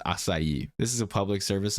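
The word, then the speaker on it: açaí: know that it's pronounced asai this is a public service announcement PSA please say asai okay that's how we say it in Portuguese and it's not that hard aai not aai aai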